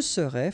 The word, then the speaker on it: serais: Je serais, final S not pronounced.